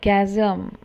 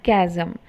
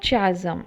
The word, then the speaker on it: chasm: Now, look at this word chasm. This particular word, it is pronounced as chasm. It is not chasm, it is chasm.